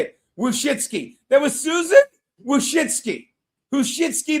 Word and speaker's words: Wojcicki: Wojcicki.